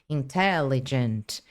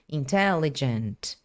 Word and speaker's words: intelligent: tracinho aqui no alto, vocês estão vendo na segunda sílaba que é o té, tem um tracinho ali no alto, um apóstrofe. Esse esse tracinho no alto apóstrofe, ele indica que é uma sílaba tônica, é uma sílaba mais forte. E aí você já sabe então qual palavra que você tem que dar mais ênfase.